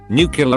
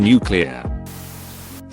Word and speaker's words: nuclear: T's better becomes better etc makes me shudder nucular rather than nuclear picture not picture we are not pouring a